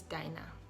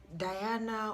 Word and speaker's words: Dinah: better than you, and they're like, no, it's Diana, you're not pronouncing it well, it's Diana or it's Diane. That's not how to pronounce it.